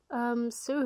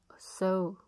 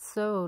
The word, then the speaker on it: sew: I will crochet him a little hat, or I will sew him one. Sew. You pronounce it sew, not sew, right?